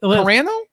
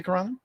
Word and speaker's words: Carano: Let's Carano? Yeah, that's how you say it. Do you mind I say Carano?